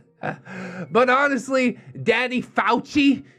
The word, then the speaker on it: Fauci: unless you're watching red x on the tv huh well there's a catch-22 but honestly daddy fauci i think that's how you say it not fosse he's he's got a